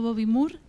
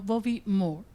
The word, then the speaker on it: Bobby Moore: H estoy ahí mejorando mi inglés y toda la vida diciendo Bobby More y en realidad no se dice Bobby Mo sino Bobby Moore y eso me dejó cao.